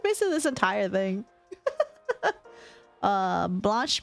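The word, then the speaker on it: blanche: Uh, blanch means white in French. Blanc is white. E is silent in French.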